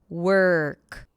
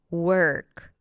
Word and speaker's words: work: Basically, what happens is that you transition from the W sound to the R, skipping the O, skipping the representation of the O. Work. Work.